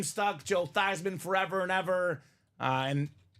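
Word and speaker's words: Theismann: she said nope no big deal it's actually pronounced tysman everyone's been living lie this whole time so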